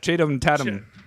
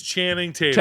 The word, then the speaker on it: Channing Tatum: easier to say than CH chadum Tatam that one's a for you yeah Tatum it's Channing Tatum chatam Tatum yeah he's